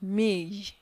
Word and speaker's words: mille: Now, when we come to 1,000, you have me. Me. Ye must sound at the end of that word.